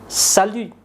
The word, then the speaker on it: salut: Sapaan yang paling populer adalah salut, ya. Salut. Ya, jadi huruf T-nya tidak diucapkan.